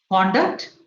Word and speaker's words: conduct: So if it is a noun, it is in the beginning. It is on the curve. If it is a verb, it comes on, the stress falls on the second syllable, that is the term.